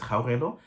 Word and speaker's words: Caoimhe: My name is Caoimhe, but I know that here in Irish, they struggle to pronounce that.